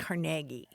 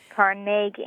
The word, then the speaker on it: Carnegie: again and again carag caragi Carnegie Accent on the second syllable with more of an a than a e right so the Carnegie